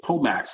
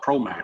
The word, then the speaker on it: POMAX: And by the way, it is POMAX. I did call it ProMax. It's not ProMax, it's POMAX.